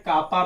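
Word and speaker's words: kappa: कुछ लोग कप्पा बोलते हैं, कापा भी बोल सकते हो, कोई दिक्कत नहीं है। के बनाया ना कभी के, तो के की एक लाइन थोड़ी बड़ी कर देना, कापा बन जाएगा। ऐसे लोग प्रोनाउंसिएशन कप्पा भी बोलते हैं। क्या बोलते हैं बेटा? कप्पा। पर थोड़ा मुझे आसान लगता है कापा बोलना, तो मैं कापा बोलता हूं।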